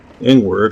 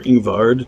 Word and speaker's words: Ingward: and I bought the ones I could buy from Ingward or Ingvard, depending on how you want to pronounce that.